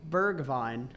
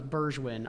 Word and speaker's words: Bergwijn: Bergvine. I always thought it was Burgewin.